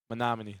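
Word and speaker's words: Menomonee: Um who's a bigger You have to help me on the pronunciation. Is it Is it Manomin? Monomin. Manom. All right. Uh who is a bigger deal at Monomony Falls High School?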